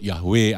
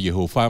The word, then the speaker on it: YHWH: Mereka nggak berani nyebut Yahweh atau Yehova, mereka nggak berani. Sehingga sampai sekarang pun ada yang berkata itu bunyinya Yahweh, ada yang berkata itu bunyinya Yehova.